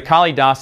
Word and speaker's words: Kalidasa: I think of the Kali dasa expansion first off I didn't know how you pronounce the name because I never heard anyone say it i think it's kalidasa anyway I'm sure you're